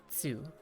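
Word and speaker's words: つ: angled up it's ooh whereas if it's no tick mark and it's just like this thing by itself it's tsu that makes sense and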